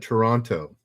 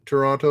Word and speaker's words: Toronto: toronto you call it toronto if you're from toronto there's no t it's just toronto all righty ryan and